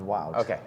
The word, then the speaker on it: Wout: pronounced that way no it's pronounced wow like Americans can say wow and the can say